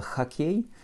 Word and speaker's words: хоккей: Pour écrire хоккей, je commence par écrire mon Ch, mon O, K, K, Y, и краткое, avec un accent sur la fin. Donc mon O va se prononcer comme un A.